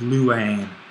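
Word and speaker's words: λύειν: and then we have Luan and then I was saying the accent is on the last syllable the stem well we only have one syllable here luang is our present active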